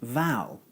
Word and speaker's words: vowel: Having said that, there are several other words in English that are spelt and pronounced similarly to vowel. For example, trowel, towel, and bow. So you may find it helpful to think of the letters O-W-E-L as representing the sound owl.